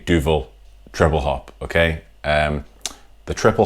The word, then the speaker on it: Duvel: Duvel is how I'm going to pronounce the name of the beer. I'm sorry if you've got Duvel or something else. Duvel, all right?